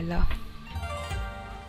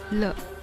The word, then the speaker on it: 了: Here, L reads L, L. E reads E, E. So L, E, L, L.